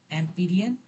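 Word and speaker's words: Amperian: ये स्पेलिंग इसका IAN दिया है, एम्पीरियन, ये एम्पीरियन लूप है, ठीक है।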